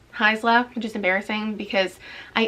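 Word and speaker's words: Haisla: audiobook recommendation it also taught me how to pronounce heisla which is embarrassing because i am familiar with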